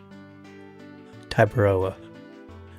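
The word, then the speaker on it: Tiberoa: Tyberoa.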